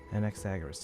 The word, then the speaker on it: Anaxagoras: Anaxagoras to you.